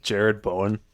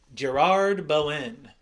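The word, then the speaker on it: Jarrod Bowen: Is it Jared Bowen? Gerard Bowen? Yes. That's not how you say it. I know. Just trying to have fun. Just trying to have fun. His name's Jared and not Gerard.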